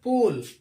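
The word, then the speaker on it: pole: Words दिए गए हैं, जैसे पी ओ एल ई लिखा है पोल, हम क्या पढ़ते हैं? पी ओ एल ई पोल, यानी ई इसमें साइलेंट हो जाता है और जो उच्चारण यह होता है वह ओ का होता है।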